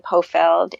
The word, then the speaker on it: Pofeldt: on LinkedIn on Twitter under my name Poe Feld and it's on the show notes but I'll spell it phonetically it's on P as in Peter